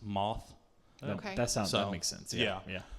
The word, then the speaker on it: Math: His uncle's name's it's spelled math, like M-A-T-H, but apparently it's pronounced moth.